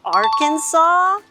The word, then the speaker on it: Arkansas: You mean Arkansas? Oh. Looks like it's time to work on some pronunciation.